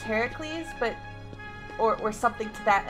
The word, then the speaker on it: Heracles: compete would be great to face you or Heracles and however we want to call it look I know it's pronounced Heracles but or something to that effect but because